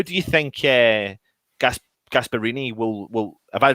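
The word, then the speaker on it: Gasperini: starting eleven how do you think uh gasp gasparini will will have i pronounced that again have i done that wrong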